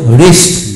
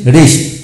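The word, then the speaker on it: wrist: যেমন ডব্লু আর বিশিষ্ট ওয়ার্ডের ক্ষেত্রে ডব্লু এর উচ্চারণ সাধারণত হয় না।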